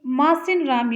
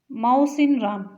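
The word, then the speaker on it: Mawsynram: Option यहाँ पे सही हो जाता है डी, मासिन राम या माउसिन राम। अलग अलग प्रोनाउंसिएशन है, मानसिन राम।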